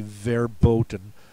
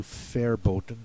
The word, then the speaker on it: verboten: the VW this your the pronouncer is going to say verboten an alternate pronunciation would be fairen so if you're not not sure if that is a v or a w ask him for the alternate pronunciation he should give you fair boten and then you'll know otherwise